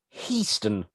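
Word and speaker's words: Hiestand: your business so high stand i correct myself houston my name is houston very strange that he pronounced his own name houston when his name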